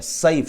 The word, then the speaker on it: سیف: سیف سین کے ساتھ اور صاد صیفن.